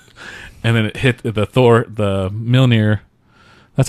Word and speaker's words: Mjolnir: And then it hit the Mjolnir. That's how you say it, right? Mjolnir.